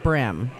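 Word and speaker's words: bream: thing I used to okay so it is pronounced brim okay brim I've heard of that yes Rick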